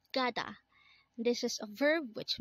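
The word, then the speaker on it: 가다: is it next word is Kata again it's Gada this is a verb which means to go again kada means to go next word is Hada again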